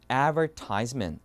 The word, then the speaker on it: advertisement: 발음하고 그죠 미국 영어에서 우리가 알고 있는 그대로 advertisement 이렇게 발음합니다 뭐라고요 advertisement advertisement 오케 보시면 advertisement 여기에